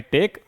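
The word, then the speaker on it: take: कोशिश की अगला है टेक लास्ट में क्या है ई इसका उच्चारण हम नहीं करेंगे टेक टेक मतलब लेना she will टेक the train to Delhi.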